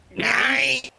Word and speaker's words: Nyai: Nyai.